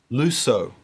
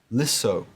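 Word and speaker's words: λύσω: of luo or leo let me read them out first using the erasmus pronunciation lusso i will lose lucas you will lose lu say he will lose she it will lose luso men we will lose lucite you will lose lu they will lose now with the modern greek pronunciation lisso lysis lissi lisomen lisete lisu now if we look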